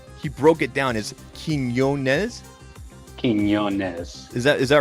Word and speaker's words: Quiñonez: people uh pronounce it quintes I'm like there's no there's no tea in there that's what I I'll